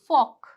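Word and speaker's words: folk: जैसे कि फोक।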